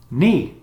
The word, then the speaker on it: knee: Knee, the joint connecting the thigh to the lower leg. Knee. The K is silent.